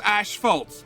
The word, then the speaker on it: asphalt: things, like asphalt, because we say it in Australia as asphalt, because it's the ash's fault.